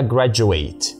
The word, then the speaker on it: graduate: اولا انا بتعامل معاها كفعل فحلو، فهقولها جراديويت بمد المقطع الاخير، معلش استحملوني.